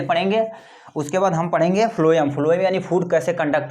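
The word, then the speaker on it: phloem: अब फ्लोएम या फॉर ये को कहते हैं फ्लोएम, या फॉर फूड होता है, या पीएच फ्लोएम। इसे आप सिंपल यानी प्रोनाउंसिएशन करेंगे तो ये फ्लोएम ही होगा।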